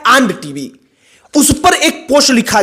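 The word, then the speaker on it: &TV: और इसके आगे टीवी हम अगर प्रोनाउंस कर द इसको तो होता है आंड टीवी उस पर एक पोस्ट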